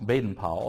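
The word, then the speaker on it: Baden-Powell: uh Baden uh Powell Baden Powell it's the best way of pronouncing it uh and the origins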